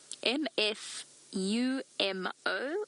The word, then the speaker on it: Mfumo: relatively simple one but the male's name mfu m o for our for our new viewers mfu m o m f more M Fu more fumo is the name